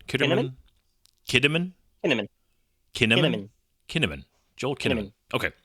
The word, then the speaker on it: Kinnaman: his last name as how do you spell pronounce Joel's last name? Is it Kidman? Kiddman. Kiddman. Kinnaman.